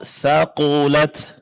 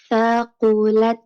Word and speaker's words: ثقلت: Tinggal sedikit ditingkatkan pada pengucapan huruf yang tebal ya, pada huruf qaf. Thaqulat. Coba. Thaqulat.